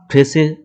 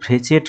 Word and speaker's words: Fréchet: এবার আমরা ফ্রেসে sequence space দেখব। এবার এটা কিন্তু ফ্রেচেট নয় বা ফ্রেচে নয়, এটা হচ্ছে ফ্রেসি।